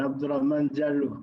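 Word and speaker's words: Abdullah Mandiaye: much uh mr frampon you pronounced very well abdullah mandya my name is abdullah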